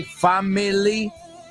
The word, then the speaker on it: family: Did I say family? 3 syllables? I know it's that way in the song. We are family. But in English it's family. 2 sílabas.